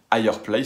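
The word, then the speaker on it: F'Higher Place: Ça va s'appeler Higher Place, ça va s'écrire F apostrophe Higher Place, on va le prononcer Higher Place, sinon on dirait juste Fireplace et les gens ne comprendraient pas, mais vous voyez un petit peu le jeu de mots.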